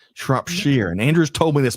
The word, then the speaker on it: Shropshire: Shropshire, not Shropshire, Shropshire. And Andrew's told me this before. I'm sorry, Andrew. Sorry to let you down, but great to have you here today. Have you been to Shropshire, Kim?